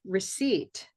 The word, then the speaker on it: receipt: So here we have receipt, receipt, green tea, receipt. The silent letter is E.